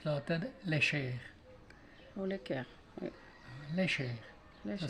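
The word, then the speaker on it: Lecher: Léchère. Ça Léchère. s'écrit l'équerre, mais ça se prononce léchère.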